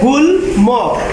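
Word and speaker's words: গুল্ম: এখানে আছে গুল ম, এখানে ময়ের উচ্চারণটা বজায় আছে, গুল ম।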